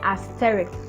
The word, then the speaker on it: asterisk: that's the correct pronunciation there is no x in asterisk it's a little